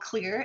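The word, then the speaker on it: Xlear: like best is called clear it's spelled with an x x-l-e-a-r and they've got lozenges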